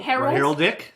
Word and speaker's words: heraldic: foremost thing about fighters of course is the heraldic sign oo um so Herald I think well it's a Herald heral dick haral dick rck there's R guys there is